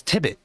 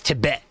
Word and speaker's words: Tibet: it's it's it says tibit that's your name no my name is Tibet Tibet like the the country or what yes yes just like the country it's named tiet why